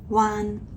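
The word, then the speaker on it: 彎: And in fact, it's this character here, which also has the high tone pronunciation, wan, but this one means curve.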